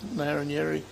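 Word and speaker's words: Ngarrindjeri: The local tribe was called the Narranyeri tribe. It's actually spelt with a G to start with, but the English pronunciation is Narranyeri.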